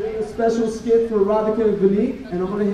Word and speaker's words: Radhika: I think you mean Radhika, which I suppose rhymes with erotica if your mind is in the gutter.